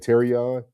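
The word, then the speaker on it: Terrion: You said Terion.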